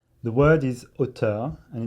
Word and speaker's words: auteur: the word is OT and it's spelled a u t r the word OT